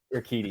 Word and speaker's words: Urquidy: And then on Sunday, we got Falter and your how do you say his last name? Jose, your Queedy? Is that how you say Urquidy. Urquidy, yeah.